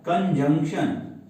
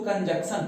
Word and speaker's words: conjunction: Preposition के बाद हमारा आता है कंजंक्शन। कुछ बच्चे इसको कंजक्शन पढ़ते थे, कंजक्शन नहीं, कंजंक्शन।